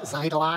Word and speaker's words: Xitilon: It was developed by Greg Robot and published by the almighty Xitilon! Xitilon? Actually, it's pronounced Xitilon.